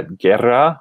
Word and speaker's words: guerra: as we see here usually the combination of letters g-u-e or g-u-i is pronounced like a hard g uh guerra war guitar so if